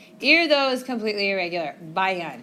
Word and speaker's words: vayan: Bayan. And that's how it's pronounced, like with a B sound.